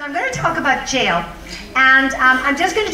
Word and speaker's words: Jael: there and say well you pronounce this jl but it is just jail anyway so her name